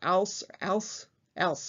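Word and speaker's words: Alys: did some research on how to pronounce that first name a-l-y-s something close to al else i think in any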